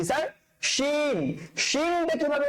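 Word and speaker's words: شين: শিন উচ্চারণ করার সময় শিন মুখ ভর্তি করে, মুখের ভেতরে উজাড় করে দিয়ে মুখটা একদম আওয়াজে মনে হয় মারামারি করতে থাকবে। আপনার এই গাল থেকে ওই গাল, উপর থেকে তালু থেকে নিচের জিহ্বা, ওরা মারামারি করতে থাকবে, মানে আওয়াজকে জায়গা দিতে পারবে না, এত জোরে করে উচ্চারণ করবেন।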